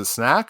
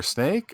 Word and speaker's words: Snak: Is it Snak or Snake? I guess it's Snak, right? There's not an E on the end.